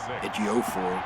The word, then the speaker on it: Ejiofor: Watt and Merciless and Ejiofor, that's how you pronounce his name, on the other side, but just not really quick enough.